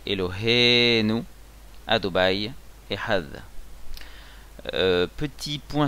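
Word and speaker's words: אלהינו: Elohenu Miléel, ça veut dire qu'on prononce sous le He. Donc sur le He, l'accent tonique, Elohenu.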